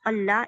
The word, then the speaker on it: Allah: Lam, pronouncing heavy lam of the exalted name of Allah is one of the temporary qualities tafkhim explained in details later inshallah.